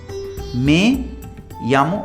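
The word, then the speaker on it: me llamo: तो मैं यामो आबी, मैं यामो, इसे मी नहीं बोलना है, ठीक है।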